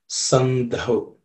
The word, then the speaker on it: संधव: In the same way, the last letter in the second line also has to be chanted the same way, sandhav. Okay, dhav with aspiration.